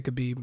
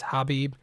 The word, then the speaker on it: Khabib: khabib habib nur number madoff i always say khabib i don't know why i say that and my wife corrects me all the time it's hobbie she hates it when people mispronounce her name